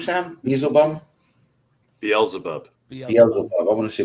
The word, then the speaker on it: Beelzebub: Is that how you pronounce his name, Sam? Beelzebub? Beelzebub.